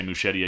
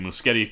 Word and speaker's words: Muschietti: I'll never say Muschietti again, outside of that one time. It'll always be Muschietti going forward, and I want to make sure I say it right so other people say it right.